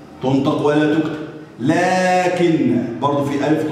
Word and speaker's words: لكن: ذلك، اولئك، لكن، لكن، هنا الف ينطق ولا ايه؟ ولا يكتب.